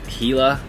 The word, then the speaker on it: Gila: Tomorrow I'm gonna head towards Gila, pronounced Gila, apparently.